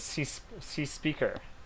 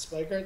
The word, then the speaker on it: cspieker: So another thing I just learned right now, just so you know, apparently his name is cspieker. So that's how you say it. Cspieker? Yeah. Not Spiker?